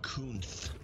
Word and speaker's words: Kunath: George Kunath, $106.53. It's pronounced Kunith.